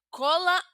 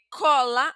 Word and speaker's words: cola: Entonces, eh cola, aquí no tenemos tilde, pero perciben, pueden percibir que la pronunciación es abierta.